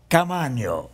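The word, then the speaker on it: Caamaño: first time I have ever known a Caaman. You said it right. Thank you so much, man. I even pronounced.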